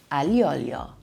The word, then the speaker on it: aglio: This garlicky pasta is called aglio. Aglio. It means garlic and oil. Aglio.